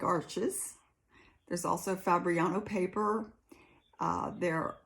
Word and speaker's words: Arches: I started, finally, settled on Arches in, I guess the correct pronunciation is Arche.